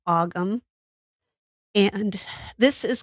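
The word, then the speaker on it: Ogham: It's not spelled like it sounds. Um, actually, I should just say Gaelic. Um, it's spelled O G H A M. So, it's aum.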